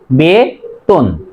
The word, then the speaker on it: বেতন: করব এখানে আছে একার, মাঝে যদি অযুক্ত ব্যঞ্জন বর্ণ থাকে তার আগে যদি একার থাকে তাহলে মাঝের অ এর উচ্চারণ ও এর মতো হবে, তাহলে বে, বয়কারে বে তয়কার দন্তন্য হস, বেতন।